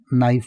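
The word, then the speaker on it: knife: में नाइफ कहते हैं नाइफ में ध्यान रखिएगा के साइलेंट होता है नाइफ बोला जाता है कांटा को इंग्लिश में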